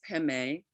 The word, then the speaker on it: Padme: the shortest version Omani pemi Hong now what it is is om is often an opener for mantras money is Jewel heme pronounced by the Tibetans pemi but spelled Padme p-a-d-m-e means Lotus but